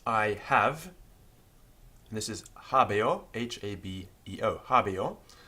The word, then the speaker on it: habeo: Although it's spelled H-A-B-E-O, we know from the Roman grammarians that it was pronounced a little bit like habeo with an I, not an E. That's because of the way that the O following the E affects the way it's pronounced.